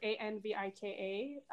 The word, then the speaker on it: Anvika: you see yeah because my name is spelled a-n-v-i-k-a uh but the way it's pronounced as anvika is the French part of it got it got it